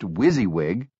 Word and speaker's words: WYSIWYG: WYSIWYG, pronounced WYSIWYG, an acronym for "What you see is what you get."